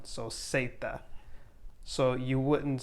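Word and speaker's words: zeta: english like zebra because you're always going to have it or say it with an s sound so seita so you wouldn't say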